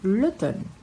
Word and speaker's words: l'automne: L'été, l'automne, note que aqui a gente tem um MN, né? Le, ton, ne. Então, como separou a sílaba, então não vai ser mener, vai ser l'automne.